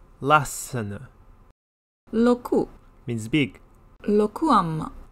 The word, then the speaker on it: Lassana: Notice the double consonant within the first syllable, Lassana.